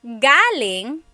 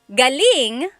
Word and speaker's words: galing: So, galing, the emphasis is on the first syllable that means coming from. David Jr. on Instagram just asked the same question, too. Galing means good or great. So if the emphasis is on the second syllable galing that means good or great or excellent.